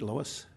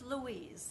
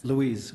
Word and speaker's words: Louise: I'm hoping to pronounce it right. Lois? It's Louise. Louise.